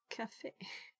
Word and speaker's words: CFE: Sometimes pronounced as cafe.